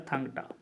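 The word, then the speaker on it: Thang-Ta: इसको याद रखना टांग इसका पूरा अपन सही से अगर उच्चारण करें तो होता है थंगटा ठीक है अगला है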